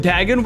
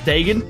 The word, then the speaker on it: Dagon: another even back when Dagon was alive which I used to pronounce Dagan when Dagon was alive